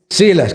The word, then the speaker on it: Silas: Hechos 15:32, siendo Judas y Silas, o es Silas, ¿cómo lo pronuncian? Silas, qué bueno, gracias.